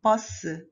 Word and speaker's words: 버스: So U is added and it is written as bus, bus.